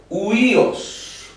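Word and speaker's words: υἱός: Y en vez de decir oídos, entonces nosotros vamos a pronunciar solo el sonido de la Y, U. En vez de decir oídos, es huíos, huíos.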